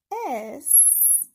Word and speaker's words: y: It's pronounced E in Spanish.